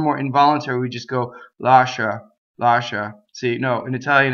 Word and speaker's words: lascia: Lascia. Okay, so that's that. The I is only there to make the sh, make it soft.